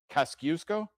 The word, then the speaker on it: Kosciuszko: Do you have a Do you have a pronunciation for this ring? Kosciuszko?